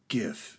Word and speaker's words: GIF: So I always say GIF. It's a G. It's a hard G. It's not a J.